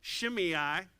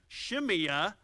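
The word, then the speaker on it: Shimea: abinadab the third shema you also heard me pronounce his name shimei shimia they pronounce it both ways the way that hebrew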